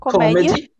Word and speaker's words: comedy: Comedy. Lembra, a pronúncia é comedy, tá certo?